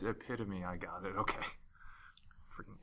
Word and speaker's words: epitome: So I thought it was epitome. I was like, I've heard that. I don't know what this word means. I was like, oh, it's epitome.